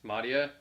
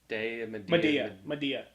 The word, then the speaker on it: Medea: Thanks, Madia. I love how that movie scarred you so much that you refuse to say her name properly. Medea.